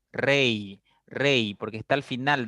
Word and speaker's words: rey: Porque esta I se pronuncia como una I latina. Rey, rey, porque está al final de vocal, perdón, de palabra, y está después de otra vocal.